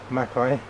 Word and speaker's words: Makai: moves 27 my name is Makai pronounced Mai my question is what